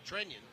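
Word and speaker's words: Trenin: the pronunciation is now Trennian. Yeah, it's one of those situations where the player says their name, and that's, you definitely hear the yin, the extra little syllable in it.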